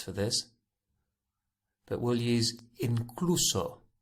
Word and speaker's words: incluso: few different words for this but we'll use incluso incluso i-n-c-l-u-s-o incluso think of it as including incluso so